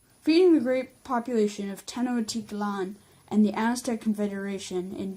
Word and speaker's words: Tenochtitlan: of the Empire reading the great population of 1000 T Tanakh TT lon penalty not sorry about the pronunciation of that it's pronounced 10 och cheat LAN LAN okay okay sure feeding the great population of Tenochtitlan and the Aztec Confederation in general in general